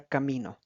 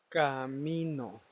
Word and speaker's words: camino: Camino, camino. En este caso, como pueden escuchar, el enfoque principal, es decir, el acento prosódico, se encuentra en la sílaba mi, donde no lleva ninguna tilde visible, pero la palabra básicamente genera el impacto, genera la fuerza que le da el sentido a la palabra.